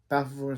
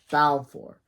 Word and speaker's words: Balfour: Balfour. Come on, Colosso. You could have gotten a better name. His name rhymes with Falcor from Neverending Story.